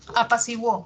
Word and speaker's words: apaciguó: Apaciguó. ¿Qué pasó en apaciguó? Hago el silabeo, separo en sílabas, encuentro un diptongo creciente, de cerrada pasa abierta, siguó, wo, ¿no? Ahí sí suena la U.